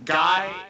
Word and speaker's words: Gai: So I also want to clarify that for the listeners who aren't familiar, Gai, his name is spelled Gai, not like oh, you're a guy, G-U-Y.